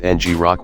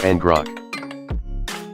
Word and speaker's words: ngrok: it is pronounced ie some say it as ng rock while a lot of people prefer n drunk let us try